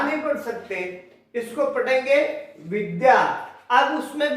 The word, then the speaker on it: विद्या: कुछ लोग कहते हैं विद्या, विद्या नहीं है, ध कहीं पर भी नहीं है, इस वर्ण में ध है ही नहीं, जबकि हमें लगता है कि यहां पर ध बना हुआ है, ध है ही नहीं। यहां पर दो वर्ण है, द और य, तो इसमें उच्चारण आता चाहिए द्य। ठीक है, उच्चारण क्या आएगा, ध्या नहीं आएगा, द्या आएगा, यानी द और य